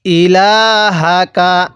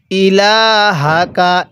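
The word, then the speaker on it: إِلَٰهَكَ: যদি আপনি আইনটাকে চাপ দিয়ে না পড়েন তাহলে অনেক সময় আইনটা হামজা উচ্চারণ হয়ে যাবে। তাহলে কিভাবে পড়ব? ক্বালু না'বুদু। এরপরে ইলাহাকা, হ্যাঁ কিভাবে পড়ব? ইলাহাকা।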